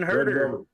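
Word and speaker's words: Huerter: And high point man the night, Herta, how do you pronounce his name? Herta? Red Velvet man, Kevin Herter.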